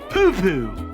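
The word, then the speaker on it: pupu: I want you to say poo-poo. Okay, I promise it's not what you think it is. See, it's spelled P-U-P-U.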